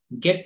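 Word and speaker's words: get: ಅದೇ ರೀತಿ ಇಲ್ಲಿ ಜಿ ಎ ಟಿ ಗೆಟ್ ಅಂತೀವಿ ಹೊರತು ಜೆಟ್ ಅಂತ ನನ್ನಲ್ಲ.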